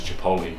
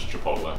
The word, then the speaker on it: Chipotle: My mum says Chipotle. She'll never change. She says it every time, but it is Chipotle.